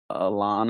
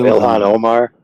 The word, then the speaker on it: Ilhan Omar: The one that's in deep trouble right now, Alana, or how do you say her name? The one that married her cousin. She's in government right now. Oh, Ilhan Omar.